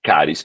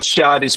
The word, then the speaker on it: CHARIS: Yo sé que en algunos lugares de Latinoamérica lo pronunciamos charis por el ch. No hay nada malo en pronunciarlo así, pero yo les aconsejo que lo pronunciemos caris porque en cualquier parte del mundo lo pronunciarán caris.